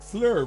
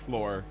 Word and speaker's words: Fleur: Like earlier, we were like, so her name was like Fleur, right? And they're like, no, it's Floor.